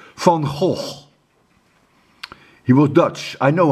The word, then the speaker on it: Van Gogh: Let me pronounce his name correctly. Van Gogh.